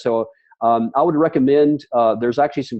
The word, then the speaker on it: Ai: Some people call it Ai, but it's pronounced I.